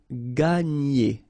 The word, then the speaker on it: gagner: And then when you've got this G and N, you get the sound N, okay? And E. So, gagner, gagner, gagner.